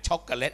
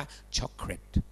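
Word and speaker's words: chocolate: ช็อกโกแลต พ่อ ไม่ ใช่ ลูก ยา ช็อกโกแลต อ่าน ว่า ช็อกแลต จำ ไ นะ ที่ แปล ว่า ช็อกโกแลต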